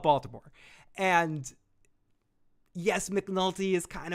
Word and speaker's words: Baltimore: wire it's truly about bottoma I'm sorry I'm sorry to anyone from uh from Maryland that I'm for that horrible pronunciation it's true it's about Baltimore and yes McNulty is